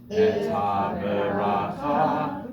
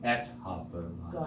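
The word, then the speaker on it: את הברכה: Et ha-beracha. So that's a meteg, showing you that the second syllable is on et ha-beracha. Got it. Right? Et ha-beracha, like it's one word. Et ha-beracha, all upbeat notes.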